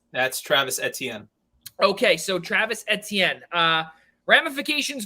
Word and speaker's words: Etienne: Ian, I need you to pronounce. That's Travis Etienne.